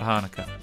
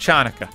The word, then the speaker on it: Hanukkah: us a little bit about hanukkah not pronounced chanaka there is a ladybird